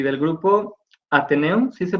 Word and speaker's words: Ateneum: Fue fundador del Octeto Guitarte y del grupo Ateneum, ¿sí se pronuncia así, maestro?